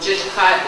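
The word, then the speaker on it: Jilkáat: that you don't know just hot is the actual sling pronunciation of chill cat just cotton weeds winter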